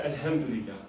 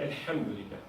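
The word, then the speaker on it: الحمد لله: It is actually Alhamdulillah. Ha, not ha, not H. It's a letter Ha. It's not. It doesn't have an equivalent in English. Try and pronounce it from the throat, not from the ceiling of your mouth.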